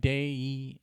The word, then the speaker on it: deity: How would you pronounce this word? Well, deity? Deity. Deity. Okay, there we go. A deity is But there where is the I? Right here. Deity. Day It's like day-e Deity.